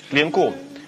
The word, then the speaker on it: Линку: Линку. Ударение на последний слог.